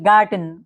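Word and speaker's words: Garten: নামের ক্ষেত্রে ব্যবহিত হয় টিপস কি শুরুতে যদি কোন শব্দের শুরুতে বা ওয়ার্ডের শুরুতে থাকে হ্যা এবং শুরুতে থাকলে কি ঘর মত উচ্চারিত হবে যেরকম কি গার্ডেন হ্যা অনেক সময় খয়ম র মত উচ্চারিত হয়।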